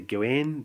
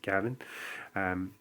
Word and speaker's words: Gawain: I know some people say Gawain, but I think in Welsh it's pronounced Gavin.